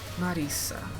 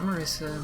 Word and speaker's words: Marisa: Marisa, not Marissa.